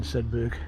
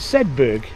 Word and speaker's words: Sedbergh: Churches together in Sedbergh and district.